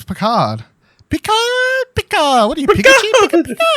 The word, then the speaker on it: Picard: It's Picard. Picard. What are you, Pikachu? Picard. Well, they all pronounce it.